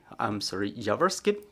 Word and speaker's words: Yavorsky: And also joining us is Volodymyr Yavorsky, lawyer, Yavorsky, the stress is on the first syllable.